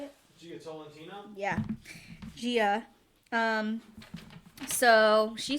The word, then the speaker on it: Gia: Gia.